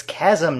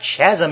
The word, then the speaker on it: chasm: bottom of a Chasm it's Chasm not Chasm you adult Ryan the